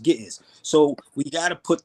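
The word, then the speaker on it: Ge'ez: So again when you and then the language is actually amharic or they speak gis in the church is pronounced gis.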